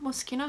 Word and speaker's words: Moschino: Moschino, is that how you say it?